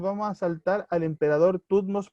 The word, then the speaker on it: Tutmos: Tumos, no, es Tutmos, perdón, es Tutmos II.